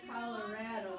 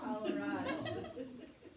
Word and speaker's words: Colorado: And she says Colorado and not Colorado.